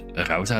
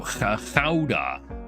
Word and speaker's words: Gouda: Gouda? No, Gouda. Gouda. The OU make ow.